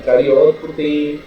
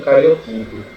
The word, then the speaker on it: cariótipo: Então, a gente chama de cariótipo, às vezes também tem gente que pronuncia como cariotipo. Certo? Eu acho que não está errado em dos dois. É só lembrar do acento, né? Cariótipo tem um acento, cariotipo não vai ter acento.